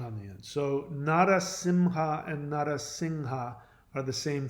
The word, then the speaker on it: Narasimha: Narasimha and Narasingha are two pronunciations of the same word. In reality, it is pronounced Narasingha. The M, what we like the word Om, the chant Om, you think it's an M, right? It's not. It's an NG sound.